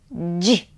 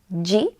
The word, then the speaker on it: dzi: D, z, I we pronounce as ji. I made also a video lesson on pronunciation of this sound, ji, and it's available for free on my website,